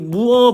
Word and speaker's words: mua: 무 원래라면은 문자표 발음표 보면은 무아죠. 무아. 어, 근데 제가 저번 시간에이 끼어를 설명드리면서 관습적 관행적으로 베테란 사람들이이 아 발음을 어라고 있는 단어가 몇 개 있다라고 했어요. 맞죠? 음. 그래서 이것도 무무어도 그것 중에 하나다라고 아시고 계시면 됩니다.